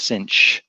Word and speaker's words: sinh: talked about before, the hyperbolic sine, which is pronounced sinh, and the hyperbolic cosine, cosh.